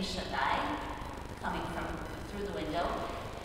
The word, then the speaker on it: Shaddai: that it's a name, the way that you pronounce it in Hebrew is Shaddai.